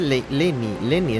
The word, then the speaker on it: Lyney: Yo sigo diciendo Lyney, no sé. Dice Lenny es la pronunciación, pero...